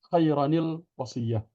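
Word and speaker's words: خيرا الوصية: Khairan al-wasiyah dibaca khairanil wasiyah.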